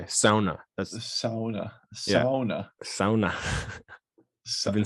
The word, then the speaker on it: sauna: Who says sauna? Sauna. It's like SOU. You know who says it is people who know how to say it. Because they're Finnish.